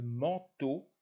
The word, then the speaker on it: manteau: ce sont 1 la france blanc enfants le manteau la danse l'enfant une dans le vent le